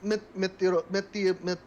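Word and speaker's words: meteorólogos: Now it's pronounced meteorologos.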